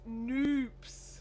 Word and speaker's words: Noops: you Kim um and apparently it's noops according to Kim noops rhymes with soups um Sally says the